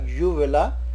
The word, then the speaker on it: uvula: Again, the pronunciation is starting with U and then followed by vala, uvula.